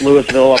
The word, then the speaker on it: Louisville: place in Lewisville Ohio looks like Louisville but it's it's pronounced Lewisville up here in the Northeast and uh really great